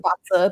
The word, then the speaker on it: BaZi: We pronounce it Baza, but it looks like Bazi.